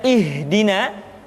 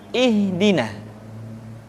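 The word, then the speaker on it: اهدنا: Perhatikan huruf ha seringkali diucapkan dari dada. Ha. Ingat, di dalam makharijul huruf kita tidak mengenal pengucapan huruf-huruf dada. Tidak ha, tetapi ha. Tidak ihdina, akan tetapi ihdina.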